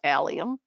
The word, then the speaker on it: allium: strong garlic onion smell to it and it's pronounced allium and its seed heads provide texture in the